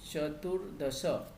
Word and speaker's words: चतुर्दश: रफार जब भी आएगा तो नेक्स्ट वर्ड पे जाता है, और अनुस्वार जब भी आता है तो प्रीवियस लेटर पे आता है. तो चतुर के बाद में र प्रोनाउंस हो रहा है तो द के ऊपर गया चतुर्दश. एंड दिस इज चतुर्दश, नॉट चतुर्दश. विसर्ग नहीं आएगा, चतुर्दश.